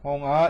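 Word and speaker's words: 本が: 이게 이제 비음으로 우리가 발음하셔가지고 홍아 이렇게 읽으시면 돼요.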